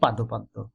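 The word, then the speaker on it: পাদপদ্ম: এটি উপমিত কর্মধারায় সমাস পাদপদ্য উচ্চারণটি হবে পাদপদ্দ্য পাদপদ্দ্য পাদ মানে পা মানুষের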